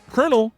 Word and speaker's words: colonel: Colonel has that weird pronunciation because it comes from the Italian word colonel, meaning column of soldiers. But English speakers messed up the pronunciation over time and here we are.